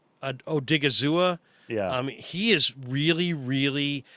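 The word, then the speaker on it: Odighizuwa: He was talking about, how do you pronounce the kid's name from UCLA? Osa Odigizua. Odigizua.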